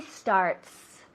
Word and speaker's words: starts: Yo creo que la gramática en inglés es bastante fácil, pero la cosa en el presente simple, no pronunciáis la S y tenemos que hacerlo. I start where she starts.